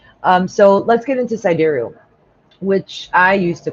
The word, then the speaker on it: sidereal: get into sidereal, which I used to call sidereal all the time for years. So don't worry if that's what you've been calling it. You can keep calling it that. I believe it's properly pronounced sidereal.